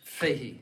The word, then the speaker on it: Fahey: Et alors, je vous conseille de lire l'abbé Dennis Fahey, ça se prononce comme ça.